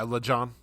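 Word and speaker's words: Lajon: Yeah, LeJohn.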